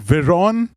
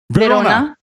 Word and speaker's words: Verona: is all the way from a place called viron italy if i'm not wrong yes was that the correct pronunciation yeah it's verona all right verona i'm sorry verona italy and